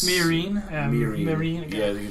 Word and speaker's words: Meereen: Meereen. To Meereen. And they're hitting the mile markers. Marine, whatever. I think it's... Meereen. Meereen.